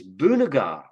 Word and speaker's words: Boonega: And the word is Boonega. And I'll spell that B-O-O-N-E-G-A.